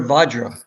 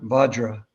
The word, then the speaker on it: Vajra: Sometimes you'll pronounce it Abhijanya, but I think both are Okay. correct. Indra, Avijanya. Indra Vajra. Indra Vajra.